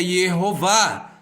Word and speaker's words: Yehová: Shevá, Rolan, Kamatz, E-O-A. Portanto, o nome é Yehová.